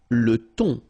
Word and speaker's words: thon: Le thon. Remember, H here is not pronounced. Le thon, la dorade, la morue, final not